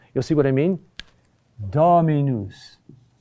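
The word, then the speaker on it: dominus: dactyls and they are Latin words whose accent is falls on the second to the third to last syllable the third to last syllable you'll see what I mean dami news dami news how do you remember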